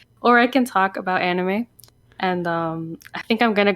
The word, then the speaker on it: anime: cover them all, and he pronounces it anime, which is technically the correct way to say it.